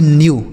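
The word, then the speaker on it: knew: तो देखिए के के साथ एन है यहां पर भी तो इसे हम पढ़ेंगे न्यू के एन ई डब्ल्यू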